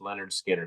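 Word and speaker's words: Lynyrd Skynyrd: that would have been in the top 15 pronounced Leonard Skinner because that's a really good album that's got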